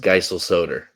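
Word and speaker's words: Geiselsöder: Dallas and we'll we'll tell you it's pronounced Geisel Soder.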